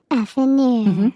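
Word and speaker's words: affineur: You pronounce it today. Okay. Affinure.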